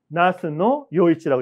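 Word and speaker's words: 那須与一: 나스노 요이치라고 읽습니다.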